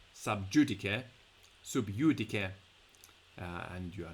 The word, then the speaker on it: sub judice: You can just say it's, in the English pronunciation, sub judice, and you are not allowed to talk about it because it's being talked about in a court somewhere.